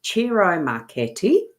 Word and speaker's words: Ciro Marchetti: expanded edition, and it's Ciro Marchetti is the person who's created these, and that's taken pronunciation-wise from his own video that I watched on the weekend.